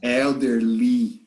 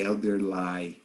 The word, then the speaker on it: elderly: you are not wrong because we usually pronounce e like okay okay elderly we don't say elder lie okay like friendly okay